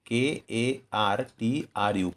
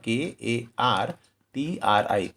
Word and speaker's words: कर्तृ: इसके उच्चारण में हो सकता है कि उड़ीसा में या साउथ में या महाराष्ट्र में कर्तृ कहा जाए, KARTRU, कर्तृ। लेकिन हिंदी भाषा वाले क्षेत्रों में इसका उच्चारण होगा KARTRI, कर्तृ।